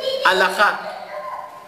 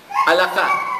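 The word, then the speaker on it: halajá: Es alajá. Alajá.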